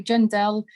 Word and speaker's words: Djendel: page gendel and my surname is spelt with a dj so jendel and you can find